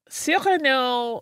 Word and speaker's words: Cyrano: I didn't pronounce it that way at all, though. I didn't in the episode because it's Cyrano.